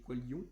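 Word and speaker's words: Koilon: Bref, allez voir le live Qualion, donc ça s'écrit K-O-I-L-O-N, Qualon, mais il dit Qualion, je crois.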